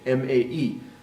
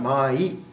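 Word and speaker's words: まえ: were written in English, M-A-E. So it's really not mai, it's mae. It just sounds like mai when we say it fast using our English pronunciation.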